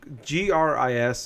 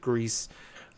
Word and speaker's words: Gris: came out this last Friday, I believe it's GRIS. I believe it's Gris. I've heard a million different ways of saying it, but when people review it, I've heard people pronounce it Grease, and Gris, and a couple other ways too.